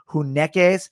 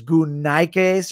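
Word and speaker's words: γυναῖκες: But here's the thing, the Greek word for women, if you're speaking modern Greek, it's translated like hunekes. If you're speaking, you know, in the old Koine Greek pronunciation, at least the way you're taught when you learn Koine Greek, it's gunaikes or gunaikos.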